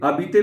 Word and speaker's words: habiter: habiter में h is silent. In French, h is always silent.